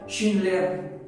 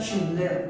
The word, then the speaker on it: Schindler: Oskar Schindler. De hecho, si ustedes se dan cuenta, la pronunciación del apellido es como muy alemán, ¿no? muy teutrón.